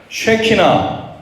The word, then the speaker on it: 쉐키나: 쉐키나. 발음을 잘하세요. 자, 다시 한번 쉐키나. 쉐키나라고 하는 히브리어 단어입니다.